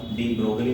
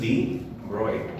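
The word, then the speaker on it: de Broglie: इसका नाम डी ब्रोगली नहीं है, डी ब्रोगली, क्योंकि अपने यहाँ का है नहीं, तो अपने को जैसे स्पेलिंग दिखते हैं अपने बोल देते हैं, जैसे उसको डोगरनिया करते रहते। तो ये डी ब्रोगली नहीं है, इसको आप समझना, दिस इज डी ब्रोय, और ऐसा फीमेल डी ब्रोय। और ये जी है, इसका साइलेंट है, डी ब्रोय है। और 99% लोगों को नहीं पता कि ये डी ब्रोय होता है।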